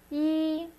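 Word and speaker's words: 一: 3es AB C's and this is how you say one in Chinese ye just one horizontal line and the accent is one also long and drawn out two is R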